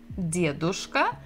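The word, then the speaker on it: дедушка: we have Dia de diadushka and here we have book of and the stress is also the same syllable the first DIA dushka diavushka so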